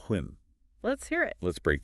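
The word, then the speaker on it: 婚: The essay gives us the character for a marriage, pronounced Hun.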